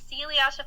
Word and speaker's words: Celiasha: It looks like Eliasha, but it's not. And I asked her too, how do you say that name? It's Celiasha Plays.